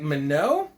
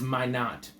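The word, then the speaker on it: Minott: But it looks like Minot is maybe you'd pronounce it if you're just trying to like interpret things in your brain, but it's pronounced, I don't know, maybe throughout the world, but in that region, or his friends, and certainly by himself, is my knot.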